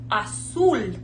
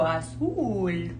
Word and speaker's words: azul: U, that's pronounced U, azul. So it's like you're saying ooh, ooh, azul, azul.